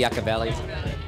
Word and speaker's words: Yucca Valley: Yucca Valley, Yucca Valley.